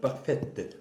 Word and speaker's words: parfaite: 네, 마담 파페트. 아 그 뒤에 의가 붙는구나. 여성형이니까. 왜냐면 여성이니까. 맞아. 의가 붙어서 T 소리가 나는 거지.